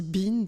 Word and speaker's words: Behn: sous un nom allemand le nom de ben alors apparemment prononce aussi bean par dans en j'ai appris